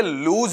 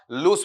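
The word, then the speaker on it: loose: पर समझा दूं बेटा इसका उच्चारण लूज नहीं होता है बल्कि क्या होता है आपका लूज होता है इस तरीके से वहां पर इसका उच्चारण आपका लिया जाता है ये क्या बनेगा बताओ आपका लूस बनेगा उसके साथ में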